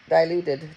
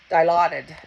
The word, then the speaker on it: Dilaudid: I don't even know how to pronounce it. Di- Dilaudid? Dilaudid? Dilaudid? Diluted. Diluted. Diluted. Dilaudid.